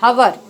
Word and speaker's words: hour: A university, a European, a uniform, an hour, and hire, a utensil. So in the word hour, the H is silent, so we get the vowel sound of O first.